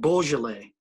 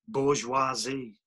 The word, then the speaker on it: Beaujolais: We had vinegar on our lips from John's French Fry restaurant, and a bit of Beaujolais, which I had mispronounced bourgeoisie, and which, regardless, the